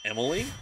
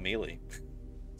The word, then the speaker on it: Emily: Oh, it's pronounced Emily? Okay, I guess that's fine. Gotcha. Instead of Mealy.